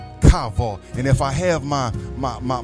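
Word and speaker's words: קָוָה: Wait in the Hebrew is called kavod. Kavod.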